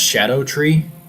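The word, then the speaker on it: Scadutree: It It's pronounced shadow tree, but it looks like Scadoo tree because it uses old English spelling.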